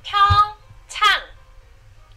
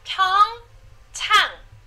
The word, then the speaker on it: Pyeongchang: Here is how you pronounce the Korean pronunciation guide for the host city for the 2018 Olympics. Pyeongchang, Pyeongchang, Pyeongchang, Pyeongchang.